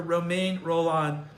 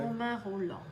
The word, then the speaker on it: Romain Rolland: I impart these words of the French author Romain Rolland. Did I pronounce that correct? Romain Rolland. Say it again. Romain Rolland.